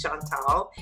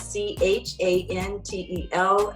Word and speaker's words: Chantel: But please also subscribe to my YouTube channel, which is Chantel, and I'll spell that because people always think it's Chantal. It's Chantel, and last name.